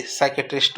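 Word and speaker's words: psychiatrist: होता है मनोरोग विशेषज्ञ साइकेट्रिस्ट की स्पेलिंग पी साइलेंट रहता है इसमें पी एस वाई सी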